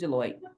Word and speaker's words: Deloitte: It's Deloitte. Deloitte. Thank you so much. I appreciate you. So Deloitte.